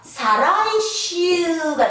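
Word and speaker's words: 再来週: 이걸 사라고 읽습니다. 사라고 읽어요. 자, 내주 똑같이 있죠. 즉 뭡니까? 사라이슈가 됩니다.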